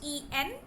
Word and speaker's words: en passant: The spelling is ENPASSANT. As it is a French word, we don't pronounce the last alphabet. We don't pronounce T. It's En Passant.